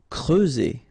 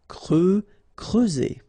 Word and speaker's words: creuser: Creuser. Okay, so C and R together, cre, and then E and U, creuser.